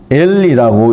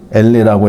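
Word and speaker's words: אֵלֶּה: 그 다음에 엘리라고 읽습니다. 엘레라고 읽는데요.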